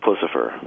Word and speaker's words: Puscifer: is it pucifer or pfer how do you pronounce I've heard 10 different ways puss puss and boot pfer thank you for the clarification now this band